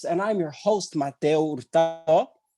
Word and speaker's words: Hurtado: October month, a virtual variety show live on Zoom, presented by BAAD Bronx, and I'm your host, Mateo Hurtado. The H is silent, but I am not.